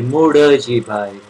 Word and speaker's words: Muljibai: And so Dadashri replies, the one who is speaking is Ambalal Muljibai, and we in Gujarati say Murdajibai, spelt as an L but pronounced as a D for David.